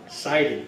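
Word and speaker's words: Seider: He did the autopsy on the first victim of the Revolutionary War, an 11-year-old boy named Christopher Siding.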